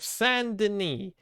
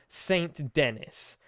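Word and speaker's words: Saint Denis: us feel stupid this is the city of sandini spell s-a-i-n-t space d-e-n-i-s it is spelled saint dennis it is pronounced sandini i hate it oh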